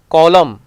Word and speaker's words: column: Letter N is usually silent after an M at the end of the word. Column, autumn, dam, ham.